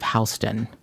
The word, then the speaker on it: Houston: Producer Mark also brought up what I would think would be Houston Street in New York is always like south of Houston. It's pronounced Houston.